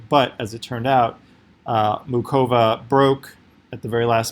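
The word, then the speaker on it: Muchová: since Cova against I just found out it's pronounced mu Cova not moot Chava they split sets and then they went into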